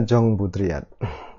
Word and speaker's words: Jean Baudrillard: Ini bacanya Jong Budriyat.